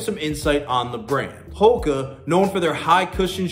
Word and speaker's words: HOKA: Yes, it's pronounced HOKA.